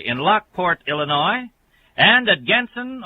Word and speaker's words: Genson: Lockport, Illinois, and at Genson or Jensen. I hate to mispronounce anyone's last name, but it's spelled G-E-N-S-O-N, Jensen Hardware at Kankakee, Illinois.